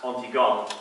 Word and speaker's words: Antigone: of the same name, pronounced Antigone in French.